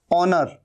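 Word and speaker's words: honour: है ऑनेस्ट मतलब ईमानदार ओनर यह भी ह यहां पर साइलेंट है ओनर का मतलब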